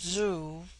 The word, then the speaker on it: zu: On the other hand, z, when an initial, is with them a sound in which the breath is sucked inward, and thus zu, pronounced zu, which in their language